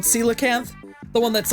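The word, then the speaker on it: coelacanth: Celacanth. The one that's like impossible to catch. I I kept saying I think I said pronounced it like coellacanth or something. It's celacanth.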